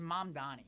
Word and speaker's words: Mamdani: It's it's Mamdani.